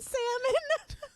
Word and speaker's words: salmon: He pronounced the L in salmon.